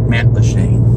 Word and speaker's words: Matlacha: It's like, this is the first time I'm able to pronounce it, Matlacha.